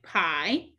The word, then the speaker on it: pie: So again, digraph IE can say I, like pie, or E, like shield.